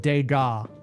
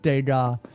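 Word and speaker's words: Degas: Sono, respectfully, it's pronounced Dega. Thank you. It's at the Mulan Rouge. Uh, first try. He nails it every time. How does he do it? Respectfully, it's he's pronounced Dega.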